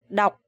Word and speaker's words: đọc: You remember this word had a similar rhyme with the word ngọc. Jade. Ngọc. And this one is đọc. So you have to pronounce very clear and very strong.